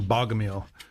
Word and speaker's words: Bogomil: I know it has the best name, or I prefer this the pronunciation Bogomil. Well, I say Bogomil because it's like you bought a meal and now you get one free.